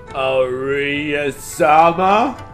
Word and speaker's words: Aria: No, Japanese R is like a mix between an R and an L sound. It's just the easiest way to say it is like... You can roll your R's. Aria-sama? Yeah, if you can roll your R's, just do one of those and that's how you do them.